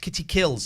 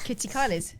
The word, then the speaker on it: Kitty Kills: It's pronounced Kitty Kills. Sorry, Kitty Kills. I apologise. What did you call her? Kitty Kylie's?